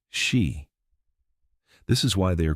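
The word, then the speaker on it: Sídhe: Underneath it, they retreated into the hollow hills and ancient burial mounds known as Sida, pronounced she.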